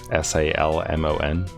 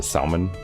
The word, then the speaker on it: salmon: jumps up the waterfalls s-a-l-m-o-n because when I don't think about it I pronounce the salmon so I say the L in it versus salmon which is how most people say it oh I'm aware but